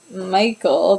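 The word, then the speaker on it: Mykle: Michael, but it's spelled like M-Y-K-L-E.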